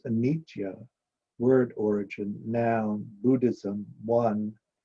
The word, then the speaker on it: anitya: Buddhism, what we call anicca, Pali, Sanskrit anitya, pronounced anitya, word origin, noun, Buddhism, one, the cycle of birth, growth, decay, and death through which every living thing must pass.